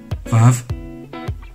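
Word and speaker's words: וו: 바브, 바브, 바브, 바브. 이 발음은 항상 V 발음을 나타냅니다.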